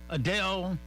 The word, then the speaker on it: Adele: class without us all right well let's see Adele as you know is a big time singer